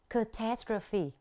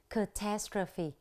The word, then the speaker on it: catastrophe: lưỡi một chút về cách phát âm catastrophe chúng ta nhấn vào âm tiết thứ hai catastrophe và trong bài này